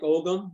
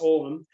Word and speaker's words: ogham: And he says it's Celtic ogum is how we pronounce it, but it's ogham, and it's on the side.